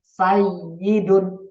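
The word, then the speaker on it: سيد: Sayyidun, ya-nya ditekan kalau ada di ilmu tasdidnya, ya-nya ditekan, ada tasdidnya.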